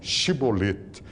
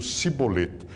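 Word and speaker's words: shibboleth: eles eles pegavam um uns diziam shibolet pra palavra espiga e outros diziam sibolete então quando o camarada aparecia ele dizia pronuncia tal palavra pronunciava errado cortava a cabeça diz diz o livro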